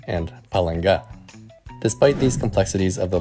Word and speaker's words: Palanga: For example, I would pronounce these words as žinoma, lietuviškų, and palanga. But as verified by my wife, these would be pronounced as žinoma, lietuviškų, and palanga.